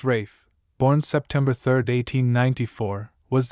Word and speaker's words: Ralph: The utmost of our knowledge only tells us that Sigard sire, the rough-coated Khali Barwell Ralph, pronounced Rafe, born September 3rd, 1894, was the son of Heather Ralph, a purple name with wind and ripples in it.